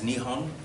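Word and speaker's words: Nippon: actually means Japan Victor pre-war Japan tended to call itself neat bow sometimes Nihon it's just a different pronunciation and then post-war they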